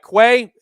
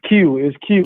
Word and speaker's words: Quay: We go to Quay. Quay, hopefully I pronounced your name right down in Tampa. Go ahead, man. Welcome to the show. It's Q.